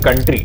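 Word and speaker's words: coup: या फिर opposing ideology की पॉलिटिकल पार्टी भी हो सकती है। इस दूसरे केस को कू कहा जाता है, प्रनाउंस कू किया जाता है, लिखा ये ऐसे जाता है।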